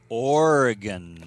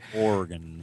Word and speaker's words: Oregon: It's Oregon.